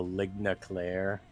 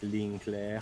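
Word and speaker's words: ligne claire: what he called the Ligne Clair art style, which is not very not very good French pronunciation there. Yeah. It's more like Ligne Clair.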